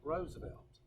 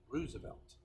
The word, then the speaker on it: Roosevelt: it's worth roads about did not pronounce this name Roosevelt you pronounced it Roosevelt Theodore Roosevelt alright guys